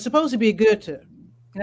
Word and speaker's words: Goethe: So it's supposed to be Goethe, and I suppose any European would pronounce it like that, but we pronounce it Goethe.